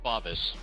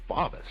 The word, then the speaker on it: Favis: right is it favis or favis it's actually pronounced favis favis Steve favis Well Steve faas again welcome to